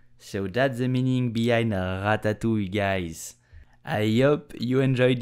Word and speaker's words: ratatouille: But French will just say ratatouille. So how do you pronounce it correctly step by step? First, you have to know how to pronounce the R like a French. So ratatouille, ratatouille, ratatouille.